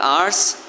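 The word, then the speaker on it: hours: इसे आर्स नहीं पढ़ना। इसमें एच साइलेंट है। The dark आवर्स the dark आवर्स ऑफ 17th August 1958।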